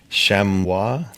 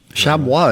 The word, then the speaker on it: chamois: the base of the Chamois crags. Chamois is the French pronunciation, but we call it chamois in English.